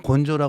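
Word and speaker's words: 根性: 그 일본 말 써요 근성이라고 하면 요 근성 똑같은 한자 쓰면서 발음만 일본 일본에서는 곤조 했는데 꼭 그 곤조 그래요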